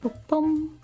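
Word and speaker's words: 部: Like this, and then the weird B one means part, section, or copy of a publication is pronounced bu.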